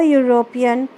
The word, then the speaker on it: European: Vowels that have the sound of you, like you, as a useful person. As in a useful person, a unit, a university, a European, a uniform, a utensil, a union.